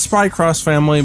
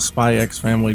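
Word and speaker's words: Spy × Family: really nice stuff uh yeah it is spy cross family but i call it spy x family because i used to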